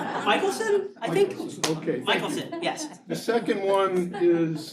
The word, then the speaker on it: Michelson: Michelson, yes.